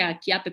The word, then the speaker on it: Chiappe: contenido estoy como andrea chiappe con dos peces en instagram se pronuncie aquí ate por si acaso pero se escribe 7